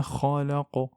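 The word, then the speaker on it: خلق: Kha, c'est une lettre emphatique et donc on doit l'amplifier. Kha et non pas kha, kha, kha, kha, non. Kha, kha. Min sharri ma khalaqa.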